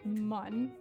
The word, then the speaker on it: Mun: I pronounce it mun. Mun. Because I remember that from the game, how they spelled it mun instead of moon.